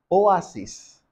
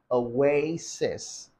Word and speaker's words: oasis: people pronounce it as Oasis now it's not pronounced Oasis rather you say Oasis away like you're trying to say go away sis your sister you're telling your sister